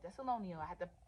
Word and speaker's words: Thessalonians: in the chapter the lesson the lesson this thessalonial see I got it right Thessalonians I had to pronounce it okay I'm wearing thessalonia where we're